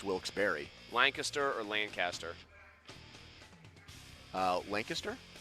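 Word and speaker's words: Wilkes-Barre: raised there say nah we just say wil's bear but I always thought it was Bar Boston in headlines today said bear I think it's Barry I think he's looking at the way it's spelled and just going bear but I think the real ones know it's wils Barry Lancaster or Lancaster uh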